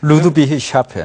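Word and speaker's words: Ludwigshafen: 이제 생산합니다 근데 그림에 보시면 바스프의 본사는 그 발음이 좀 어려운데요 독일의 루드비 샤펜이라는 곳입니다 저도 가보진 않았는데요 예 루드비 샤펜 예 루드비히 샤펜이라는 본사가 있는데요 이제 거기서 이제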